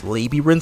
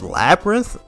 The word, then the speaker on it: Labyrinth: I remember I remember as a kid I would always I would always pronounce this as Libby. I would always pronounce this as Liberin Zone, but then when I heard when I heard pe when I heard people saying it as Labyrinth, I was very confused.